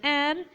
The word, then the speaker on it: heir: Before a word beginning with H which is not pronounced and therefore beginning sound is a vowel sound. For example, an hour late, an honest man, an heir, an honorary doctor.